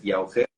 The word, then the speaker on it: Llauger: Bueno, pues mi nombre es Llauger, se pronuncia un poco raro en castellano, mucha gente no sabe cómo pronunciarlo muy bien, pero es Llauger, castellano.